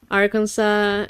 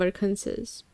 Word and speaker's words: Arkansas: And in French the S in the end of the word is not pronounced so you you say Arkan- instead of Arkansas.